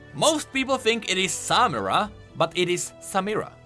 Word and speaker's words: Samira: Most people think it is Samira, but it is Samira, with a nice Shuriman accent.